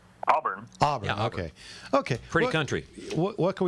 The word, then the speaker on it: Auburn: So let's get to Jake in, is it Auburn, or am I pronouncing it right? Auburn. Auburn, Yeah, Auburn.